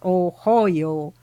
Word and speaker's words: Ohio: then New West in the state of Ohio which I remember my mother pronounced oh hoo and I followed believing it